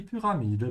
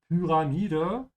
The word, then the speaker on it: Pyramide: Be careful of the pronunciation of Pyramide. The Y here is pronounced with an U sound, so stretch your tongue forward to say pyra, and the A is open, so not ra, yeah, ra.